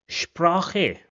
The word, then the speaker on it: Sprache: Another similar word combination is sp, which is also mostly pronounced as sh. For example, sport, which means sport, sport, or Sprache, which means language, Sprache.